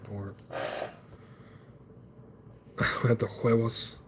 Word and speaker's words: huevos: You see, in Espanol, H and a U makes the sound, or huevos.